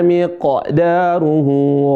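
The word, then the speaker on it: مقداره: Di sini qalqalah perhatikan ada fi yauminana miq daruhu miq. Miq bukan miq. Fi yaumin kana miqda. Bukan miq. fi yaumin kaana miqdaruhu miq daruh coba miqdaruh hah seperti itu ahsantum sekali lagi saya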